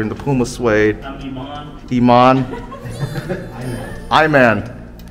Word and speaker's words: Iman: I'm Iman. Iman. Iman. It's spelled I-M-A-N.